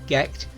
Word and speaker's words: Gight: Catherine Gordon married John Byron, but in 1787 had to sell Gecht to pay off his gambling debts.